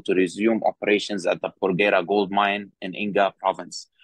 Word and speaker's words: Porgera: What's just note the pronunciation is Porgera.